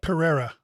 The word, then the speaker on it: Pereira: Alex's last name how do you say it Pereira Pereira okay so he it's interesting when you're